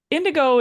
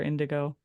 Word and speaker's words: NDGO: what they deserve so indigo is an interesting band name and I'm pretty sure people probably don't understand how to pronounce it right away like the color indigo how did you come